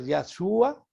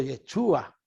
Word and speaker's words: Yeshua: O sea que en hebreo el nombre de Jesús se puede pronunciar Yahshua o Yeshua en hebreo y en griego Jesús, el nombre de Jesús.